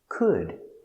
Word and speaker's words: could: could. Could. Could. Could. The L is silent. No O sound.